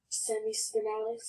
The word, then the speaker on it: Semispinalis: Semispinalis.